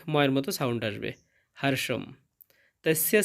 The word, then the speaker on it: তস্য: লাইনটা দেখতে পাচ্ছি এবং প্রথমে আছে তস্য। এখানে দন্তস্বয়ের জন্য ছয়ের মতো উচ্চারণ হবে এবং জফলার জন্য তস্য।